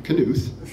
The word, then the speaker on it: Knuth: call it's like Knopf you pronounce the K right he did call